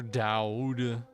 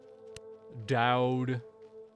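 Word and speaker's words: Doud: going to Harbor Master Dow Dow d o u d Dow that's how you say it right Dow it's this way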